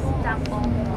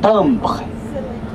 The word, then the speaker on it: timbre: How do you say stamp in French? Stample. Okay? Stample. Stample. C'est le timbre. Timbre. Le timbre. Voilà, le timbre.